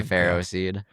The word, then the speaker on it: Ferroseed: Feroseed, A lot of people call it Feroseed, Feroseed. I say Ferroseed.